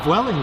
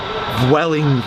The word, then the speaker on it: Vueling: I saw that was going today, and I realised why, and it's because View is like the cinema, and that's called View.